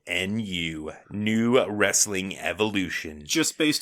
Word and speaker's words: Nu: and don't get mistaken new is spelled like new metal Nu new wrestling Evolution just